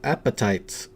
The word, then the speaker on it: apatite: Apatite? I think you say it's apatite. Appetite.